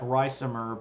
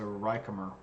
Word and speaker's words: Ricimer: And I know that looks like Ricimer, but the Romans don't do the soft C thing. That makes a K sound, so Ricimer.